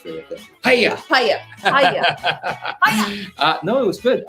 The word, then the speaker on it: paella: Well, I found it, especially when you don't pronounce the L. It's very effective. Hiya! Paya.